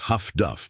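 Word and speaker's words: HF/DF: Her equipment, an HFDF set, high frequency direction finding pronounced huff duff by everyone who uses it, has captured not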